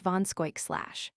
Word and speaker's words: Van Schaik: Van Schaik / an old New York name, is pronounced Von Skoik /.